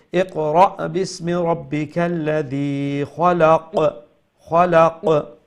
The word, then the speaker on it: خلق: Khalaq. That qaf at the end is going to be pronounced qalqala.